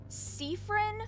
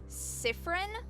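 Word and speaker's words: Siffrin: So, how they're canonically pronounced is Seaffron, Marabel, Isabel, Odal, and Bonafos is how all of their names are canonically pronounced. I when I first played through this game, I pronounced all of their names Cifin, Myrabel, Isau, Odial, and Bonnyace. I pronounced all of their names wrong.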